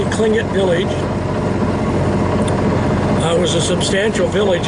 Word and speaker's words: Tlingit: And then we also have a historical accounting of, in the year 1750, the Tlingit village there, spelled with a T, pronounced with a K, Tlingit village, was a substantial